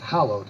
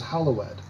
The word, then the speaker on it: hallowed: language you know that when there's a past tense or adjective with an ed on the end it's its own syllable so we would normally pronounce that hallowed like the hallowed halls